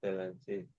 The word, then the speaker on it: Stellantis: Stellantis. Don't know how to say it. Stellantis. Yes, Stellantis.